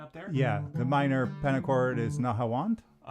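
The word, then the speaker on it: نهاوند: The minor pentacord is nawand. Uh, in Arabic it's nahawand. In Turkish it's navvent.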